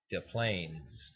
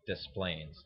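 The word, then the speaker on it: Des Plaines: a city called Desplains correctly pronounced it would be de Plaines but everybody calls dis planes Dees planes dis planes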